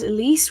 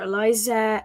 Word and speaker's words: Elise: a Kelly she has a name called Elise which is El i e so everybody mispronounces their name big shout out to my sister Elise by the way um El I so a lot of people call her Eliza LC Alice not Elise or Alice or stuff like that